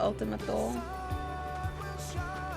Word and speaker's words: Ultima Thule: How deep we were rolling when we first got to Ultima Thule?